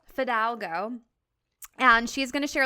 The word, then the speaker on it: Fidalgo: how do you say your last name Fidalgo Fidalgo and she's going to share a little bit